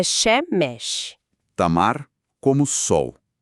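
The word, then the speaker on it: שמש: A pronúncia é shemesh.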